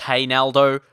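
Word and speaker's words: Reinaldo: is quality and yeah it's not Ronaldo um it's pronounced hey Naldo for whatever reason I never understood it but that's the way commentators pronounce him so only copying yeah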